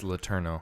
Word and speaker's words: Letourneau: It's Letourneau. Yeah. You said it. How did I say it the other time? You said it like Letourneau. Letourneau. Yeah, something like that.